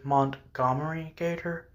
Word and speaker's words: Montgomery Gator: I think the correct pronunciation was Montgomery Gator.